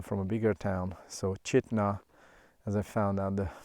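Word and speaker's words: Chitina: So Chitna, as I found out the pronunciation from the nice ranger we met, was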